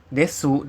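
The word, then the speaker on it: です: bagaimana dengan Das Des atau desu tulisnya desu ya dibacanya Des adalah bentuk positif yang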